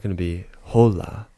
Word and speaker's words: hola: Now, you can see it's spelled H O L A. Now, that's one thing you want to be careful with. Um, in terms of Spanish, the H is always going to be a silent.